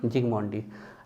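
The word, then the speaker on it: Zsigmondy: और क्या किया था जिगमोंडी ने, याद आ रहा, अल्ट्रा माइक्रोस्कोपी, एस साइलेंट होता है, ठीक है, जिगमोंडी।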